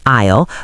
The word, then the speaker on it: isle: We've covered the silent s in isle, the heartbeat of economist, the rising tone of by any chance, and the speed of gunner.